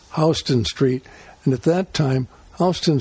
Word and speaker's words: Houston Street: was a houston street some people call it houston but in new york it's pronounced houston street and at that time houston street was sort